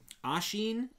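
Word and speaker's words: Oisín: All right, so this one, there's not much to show, but this is the Ashine Hat. It's spelled OISIN.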